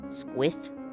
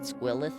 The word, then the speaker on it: Squilith: That squith. Squalith. like Lilith but Squilith. Squilith. I'm going to say it Squilith forever now.